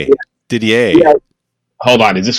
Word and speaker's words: Didier: Didier.